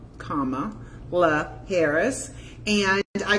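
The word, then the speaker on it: Kamala: found a fragrance called comma La Harris and I call it good comma good comma right for so we know not to mispronounce her name it's like a comma in a sentence comma Harris so um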